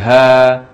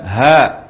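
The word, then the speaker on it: ها: huruf H dan ya huruf H dibaca Dua harokat tanpa imbuhan hamzah zahirnya Jadi ha bukan hak bukan hak tapi ha jadikan juga iya ya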